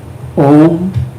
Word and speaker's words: Om: The third, center on the sound Om without any A or M. 3 syllables, 3 letters, A, U and M.